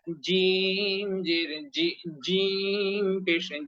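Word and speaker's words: ج: যা দুই নাম্বার ঘর জিহ্বার মাঝখান থেকে শক্ত করে মাঝখানে বরাবর উপরের তালুর সঙ্গে লাগিয়ে খুব সুন্দর করে শক্ত করে শক্তভাবে উচ্চারণ করতে হবে জিম জির জি যুক্ত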